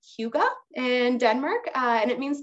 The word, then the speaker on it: hygge: It's called Hygge in Denmark, and it means togetherness.